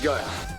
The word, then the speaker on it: Guile: How's his name pronounced, by the way? Is it Gilly? Guile? Guile? Gil? CQ, this is Guile. Ah, Guile.